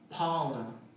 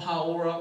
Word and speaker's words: Paora: We named him Paora, just to piss off every teacher who can't roll their R's.